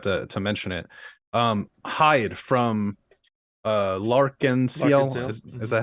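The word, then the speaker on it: L'Arc-en-Ciel: Hyde from Lark-and-Ciel, is that how you say it?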